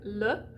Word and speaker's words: le: so the word like le which means the or him or it you're going to do it in a word ma which is me or to me you're going to do